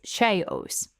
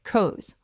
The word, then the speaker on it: chaos: Now, many learners, especially those whose first language uses a hard CH sound, will pronounce this as chaos or kos or even shaos. But the correct English pronunciation is chaos. Chaos. The CH at the beginning of chaos makes a K sound, not a CH sound, not a SH sound.